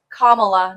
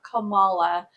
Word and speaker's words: Kamala: I am hopeful that the Kamala ticket, the Kamala campaign, and it is Kamala, not Kamala, and I think despite the fact that the Trump GOP pronounces it that way on purpose.